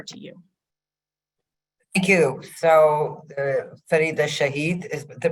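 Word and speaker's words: Farida Shaheed: So Farida Shahid is the pronunciation.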